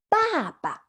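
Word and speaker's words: 爸爸: It's 爸爸. 爸爸. Can you have a try? 爸爸. Great. As you can see, the two syllables in this word are the same. The only difference is the tone.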